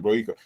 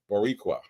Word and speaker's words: Boricua: Oh shoot. I'm not saying it right. Oh my god. Oh my god. Y'all, I'm bad at Spanish. Hold on. This is Boricua.